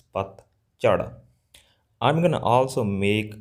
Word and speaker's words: ਪਤਝੜ: These sounds they don't exist in English, all right? So, probably you guys say pronounce it as like Pat Jhar, Pat Jhar, but it's not Pat Jhar. It's Pat Jhar.